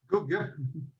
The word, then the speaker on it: Guido: Gugge.